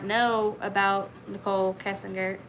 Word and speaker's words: Kessinger: not know about nicole kessinger kessinger is how you say it um at the time